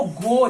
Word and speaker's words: goe: देखो गो, GOE, गो का spelling GO नहीं दिया हुआ है, GOE दिया हुआ है ना।